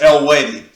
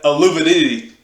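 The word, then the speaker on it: Eluveitie: But the pronouncing of their name is El-Wadi. I used to call them Aluvidity till I heard them actually say the name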